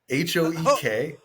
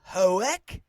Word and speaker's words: Hoek: Did I say it wrong too? Again, we got to keep this in if I keep on just saying everything wrong. Commander Hokei. H O E K. I kept hearing Hoek. Hoek.